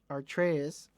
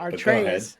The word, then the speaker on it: Atreus: working on a game in which the character Atreus, our Comrade, you making me fucking... I'm making you say it the correct way. Is what I'm making you say it. Atreus. But go ahead. Yeah. Atreus.